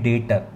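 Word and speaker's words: debtor: में बोला जाता है डेटर। अब आप बोल रहे हो सर डेप्टर लिखा है तो बी साइलेंट रहता है, आप पढ़ा जाता है डेटर्स, डेटर।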